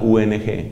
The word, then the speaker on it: Jung: psicoanalista carl jung que se escribe con jota ong carl jung carl jung es un